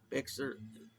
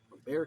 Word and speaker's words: Bexar: County, San Antonio, Bexar, Bear County, or is it Bexar? I don't know. I think it's Bear.